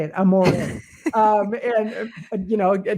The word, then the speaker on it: Amore: I know the right way to say it Amore um and you know a typical Westerner Amore